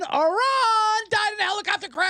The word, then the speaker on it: Iran: was the president of its pronounced iron iron died in a helicopter